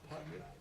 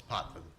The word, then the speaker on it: Potvin: Then we're going to have the Executive Director, Potter. Thank you for being here. Did I pronounce it correctly? From the Retirement System of Georgia. Very close, it's Potvin. Thank you.